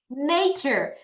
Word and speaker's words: nature: Nature. 자, 여러분, 요거 보시면 자, 요렇게 끊는 거예요. 근데이가 소리가 안 나죠. 그래서 nature 이렇게 갑니다.